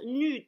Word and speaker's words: Nuud: D'après Google Traduction, ça se prononce Nude.